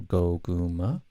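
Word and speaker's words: Goguma: also got goku manim people have a hard time pronouncing your name i don't know why it's fairly simple go guma it's actually sweet potato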